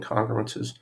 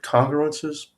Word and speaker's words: congruences: here i've always said congruences with the emphasis on the first syllable but there are people